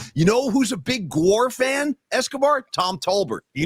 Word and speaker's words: GWAR: Maybe I should have taken that person up on seeing that band, because I'm just like, and I think it's Gwar is how they pronounce it.